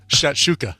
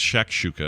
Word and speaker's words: shakshuka: a so i'm spelling i'm actually pronouncing it wrong it's shakshouka i keep saying shat with a t it's shock shooting yeah